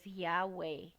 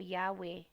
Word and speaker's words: Yahweh: know it as well if you want to pronounce it you know it as Yahweh or Yahweh and um someone on Tik Tok described it